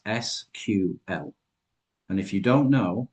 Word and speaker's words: SQL: There is a word on this screen, or it's an acronym actually, it's SQL. And if you don't know how to pronounce SQL properly and you mispronounce it in a job interview, probably not the best thing.